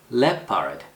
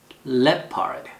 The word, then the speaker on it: leopard: 라고 해주고 다음 leopard. 표범이라는 뜻인데 액센트가 이름절에 있어요. leopard. 이렇게 발음하시고 의외로 제일 마지막에 나와 있는 이 단어가 침팬치라는 단어인데 잘 나와요.